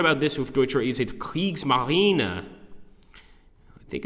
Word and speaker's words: Kriegsmarine: okay so what about this with do is CS Marine I think it's better I like when people